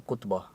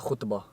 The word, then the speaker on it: khutbah: If a white if like a white brother was to say it, they say it like a khutbah. Khutbah. But it's like khutbah. Khutbah. Arabic pronunciation of khutbah, I think.